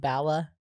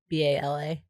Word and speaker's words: Bala: i think the per company's pronounced bala b-a-l-a bala they're like they're like